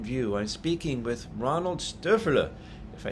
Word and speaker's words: Stöferle: And it seems you practiced pronouncing my last name for quite a while. So Stöferle, that was pretty good.